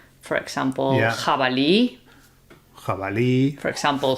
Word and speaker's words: jabalí: so it shares the same sound as the G when it's strong. So it's the J sound. Yeah. What's important to note is that we are talking about pronunciation here in Spain. In some other countries, the J will be a lot softer than it is here. Here in Spain, it's quite a strong sound.